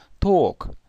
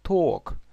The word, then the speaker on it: talk: мало делается ошибок дальше Talk говорить то есть л не произносится это длинное о Talk в принципе по аналогии